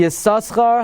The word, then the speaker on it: Yissaschar: Li Yissaschar hakriya nechayna kedas Ben Naftali, the Heichal Bracha says, right?